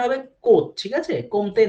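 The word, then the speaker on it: Comte: এবং অগাস্ট কমতের নামটা দিতে হবে, অগাস্ট কমতের নামটা মেনশন করতে হবে। প্রোনাউন্সিয়েশনটা হবে কোত, ঠিক আছে? কমতে না, আচ্ছা প্রোনাউন্সিয়েশনটা হবে কোত, অগাস্ট কোত।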